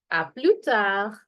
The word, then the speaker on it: à plus tard: If I'm going to see somebody much later during the day, it's going to be à plus tard. À plus tard. Remember, S and D being silent.